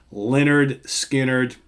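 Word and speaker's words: Lynyrd Skynyrd: for MCA records recorded in Studio One in Doraville Georgia produced by Al Cooper of course I'm talking about pronounced Leonard Skynyrd the debut album from Leonard Skynyrd arguably the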